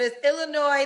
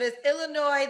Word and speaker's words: Illinois: all the time but it's Illinois the S is silent yes you are so dumb you are really dumb for real but is Illinois the S is silent